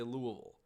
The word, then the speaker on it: Louisville: I tried to do my best at not saying Louisville. I try to say Louisville, because I hear that is the correct pronunciation.